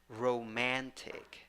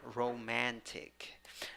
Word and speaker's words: romantic: Second syllable, which is the stressed syllable, has just letter A.